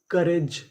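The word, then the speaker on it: courage: जैसे सी ओ यू आर यहां पे हमें ओ यू का उच्चारण नहीं करना।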